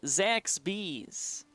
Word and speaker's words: Zaxby's: Zaxby's. Oh, my apologies that I can't pronounce that correctly.